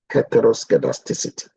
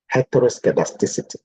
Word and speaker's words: heteroscedasticity: assumption is known as heteroscedasticity heteroscedasticity now if you pronounce it like like that it becomes easier but if you pronounce it in a different way it's not easy heteroscedasticity the word heto means